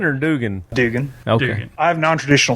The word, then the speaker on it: Dugan: Is it Duggan or Dugan? Dugan.